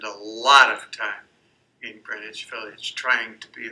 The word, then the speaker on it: Greenwich: of this was greenwich it's pronounced greenwich not like it's spelled village in new york